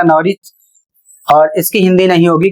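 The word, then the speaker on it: Norwich: जैसे यहां पर लिखा है एन ओ आर डब्ल्यू आई सी एच। इसे पढ़ा जाएगा नरिच।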